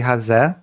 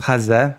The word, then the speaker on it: Haze: I am Haz. You know it's pronounced haz. Many people pronounce it as Hayes, but it's actually Haz.